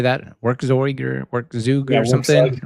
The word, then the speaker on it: Werkzeug: folks would say that, Werkzeug or Werkzug or something, right? But Armin Rönneker, the creator of this is German or Austrian but speaks German. And so that's the German pronunciation.